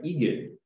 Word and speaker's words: Regan: It's actually Egan. The part of Scotland that I come from, R's are silent. My name is Egan. R is silent in both names.